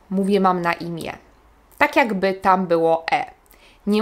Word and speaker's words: imię: Nie mówię mam na imię, mówię mam na imię.